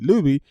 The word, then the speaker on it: Luby: So, and they were, instead of pronouncing it Luby, they would say lobby, lobby, lobby, lobby.